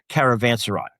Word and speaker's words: Caravanserai: If you're reading the book, you're gonna have a way to pronounce that. It's Caravanserai, just to help you folks out.